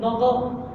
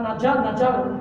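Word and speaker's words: نظر: Prononciation nadar, nadar. Pas nadjar, nadjar la gay.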